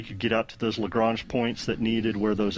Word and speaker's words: Lagrange: Is it Lagrange or Lagrange? It's Lagrange. I think depending upon what part of America or the part of the world you're from, it could be a different pronunciation there. You know, Daryl reminds me all the time it's Lagrange, but if you're from